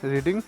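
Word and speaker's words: read: देखिए, book is not being रीड रेड bye Rahul. देखिए इसे रीड प्रोनाउंस नहीं करते हैं। ये थर्ड फॉर्म है। रीड किसे हम कहते हैं रेड like रीड रेड रेड।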